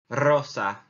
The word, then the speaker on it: rosa: we bien here the next one is pink Rosa Rosa and it's rolling the air again which